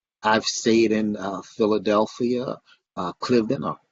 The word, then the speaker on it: Cliveden: I've stayed in Philadelphia, uh Cliveden or Cliveden as it's pronounced by them.